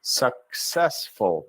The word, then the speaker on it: successful: But in this word, we hear the C twice. Successful. Push into each next syllable.